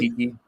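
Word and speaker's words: Okeke: Your 3 is Chemi Okoke, right? Is that how you say his name? Okiki.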